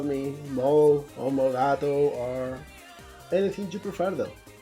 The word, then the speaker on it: molegato: at school, by then I just pronounce it molegato, which I still pronounce it like that from time to time, but when talking in English I just go for the more correct molegato.